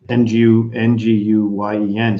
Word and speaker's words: Nguyen: KNEW and then Wen. WHEN, and that's actually the pronunciation of his last name. His name is Al Nguyen, and Nguyen.